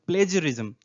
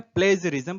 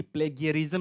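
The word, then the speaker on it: plagiarism: लेकिन जो exact word है यहाँ पे stealing from the writings of others, it's called प्लेजरिज्म। क्या बोलते हैं? प्लेजरिज्म। प्रोनाउंसिएशन ध्यान देंगे, न कि प्लेगियरिज्म नहीं बोलेंगे, प्लेजियरिज्म।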